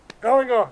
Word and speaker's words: galangal: Galangal.